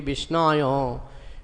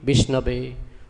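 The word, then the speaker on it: विष्णवे: Sanskrit very well, so sometimes he chants mantra, you know, wrongly, wrong pronunciation, he says wrong, grammatically wrong, he says Om Vishnaya Namah, because in many words this aya is there, so he thinks it will be Vishnaya, just like we say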